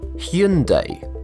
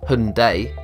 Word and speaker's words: Hyundai: In Korea, the name is pronounced as Hyundai. That said, the correct pronunciation according to the BBC is location dependent because the car manufacturer promotes the brand in advertisements with different pronunciations. In the US, it's pronounced Hundai, but Hundai in Californian dealerships.